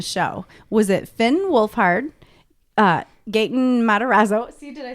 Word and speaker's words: Gaten: Was it Finn Wolfhard, Gaten Matarazzo? See, did I say it right that time? You did. Millie Bobby Brown, or Natalia Dyer? I think it was Finn. It was Gayton.